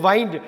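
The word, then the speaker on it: wind: அதேமாரி வைண்ட், டபிள்யூஐஎன்டி, வைண்டுனா கட்டுறது, திருகிறது, கட்டுறது.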